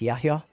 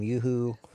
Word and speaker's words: Yahya: It's Yahya. Yahya, and yeah. When yeah. we came, and Yahya, that translates to John the Baptist somehow. Yep, yep. But anyways, I think he was in middle school at the time when we came to the U.S. and people were making fun of his name, having a really hard time pronouncing it, calling him Yuhu.